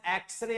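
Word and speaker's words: X-ray: Because the first letter is a consonant but the pronunciation begins with a vowel sound. Consonant है लेकिन उच्चारण इसका vowel sound से हो रहा है, इसलिए इसके पहले एन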